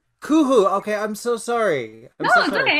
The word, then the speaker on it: Kuhoo: just want to correct you my uh it's pronounced kuhu kuhu okay i'm so sorry no it's okay that's